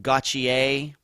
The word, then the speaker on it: Gauthier: And that is this young woman, Corey Gauthier, even though it looks like it's Gauthier. Those French names get me every time. But I think it is pronounced Gauthier with a CH instead of a TH.